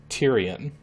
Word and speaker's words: Tyrian: Tyrion 2000 I'm not I wasn't actually sure completely how to pronounce this word turns out it really is pronounced Tyrion 2000 well so there's some